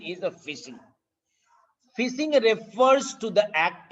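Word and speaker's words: phishing: iing it is p i s i it's pronunciation is a fishing fishing refers to the act of stealing a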